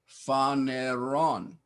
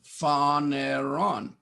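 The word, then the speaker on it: φανερόν: Phaneron. PH sound. Phaneron.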